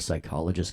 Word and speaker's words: psychologist: you can't hear a psychologist go to the bathroom by the way cuz the P is silent ha ha all right